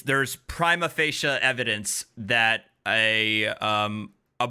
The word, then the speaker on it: prima facie: property i i always i always mispronounce it but it's prima facie uh is the latin